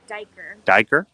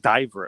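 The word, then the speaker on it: duiker: uh the yellow back and how is it pronounced dyker i thought diver at first because that's what i was thinking of like the angle yep so diker means dive to dive and it's an antelope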